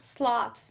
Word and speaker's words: sloths: Sloths, not sloths. Like cloths, but sloths. Rhymes with cloths.